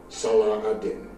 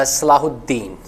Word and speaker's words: Salahuddin: the sword of legendary i think they just pronounced a little bit like an american accent so i think his name was so since i do speak a little bit arabic so it's called uh salahuddin if i'm not wrong